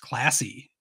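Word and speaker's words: Clase: for Guardians closer Emanuel class or I've heard pronounced classy sure it's Class A but he is not classy but uh I would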